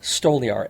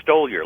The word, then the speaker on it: Stoliar: r by the way am I have I been pronouncing that correctly the whole time no but no big deal what no what what is it what is it actually oh stole your like stole your time oh boy all right